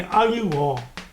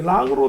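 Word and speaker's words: 樂: 음악 할 때는 여기 악이고 이제 좋다 할 때 좋아할 할 때는 요라고 발음하는 거예요. 그 다음에 이제 즐긴다 할 때는 이게 락으로 되는 거예요. 그 다음에 이제 약이라 할 때 그럴 때는 아니, 예. 그래서 악, 요, 락 이렇게 이제 세 가지로 되는데 음악, 가락, 요산요소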